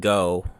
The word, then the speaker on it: Ngo: and II know and I think the G is silent I always went with go when it's NGO but okay and Ino was